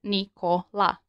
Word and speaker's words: Nikola: Notice how we can split the name Nikola into three syllables. Now just apply the one letter one sound rule and you get Nikola.